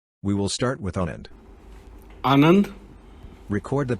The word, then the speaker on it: Anand: Anand. Record the pronunciation of Anand by speaking into your iPhone's microphone.